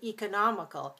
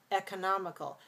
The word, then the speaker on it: economical: this down to e we have two ways of we say economical e or economical but it's no longer a schwa as in the word economy let's try that economical